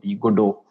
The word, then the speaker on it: Godot: I would recommend Godot. There's a game engine called Godot. That's how they pronounce it.